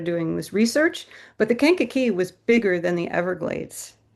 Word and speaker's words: Kankakee: Kankakee. Kankakee. Okay. Yeah, the Kankakee Marsh. Yep. And that was actually that I didn't know this story until I started doing this research, but the Kankakee was bigger than the Everglades, if Wow.